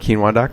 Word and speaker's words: Keenwah: just tell people go check out I heart quinoa calm like I said spelled phonetically ke E and W aah calm so